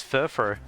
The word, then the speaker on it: Furfrou: But yeah, the the u always throws me off, but it's meant to be pronounced as furrow.